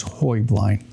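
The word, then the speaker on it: Heublein: The correct Bavarian pronunciation is Hoy Blind.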